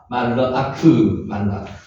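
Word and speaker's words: מלאך: 요거는 지금 묵음이기 때문에 르로 나눕니다. 말르, 요거 짝대기죠. 짝대기, 말르아크, 말르아크.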